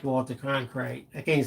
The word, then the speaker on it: Cronkite: Cronkite.